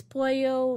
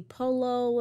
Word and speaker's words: pollo: And I proceeded to explain how in Spanish, the grammar rule of whenever you see a double L, it's actually pronounced like a Y.